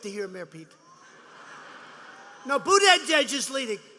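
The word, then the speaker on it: Buttigieg: their debates are dying who wants to watch buddha edge edge you know that you pronounce it they say i heard some guy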